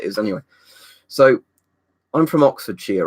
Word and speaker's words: Oxfordshire: know all those ones you never say the Shire it's sheer so so you know this is Oxfordshire you say it like she am NOT Shire basically like you're shearing sheep yeah what's this year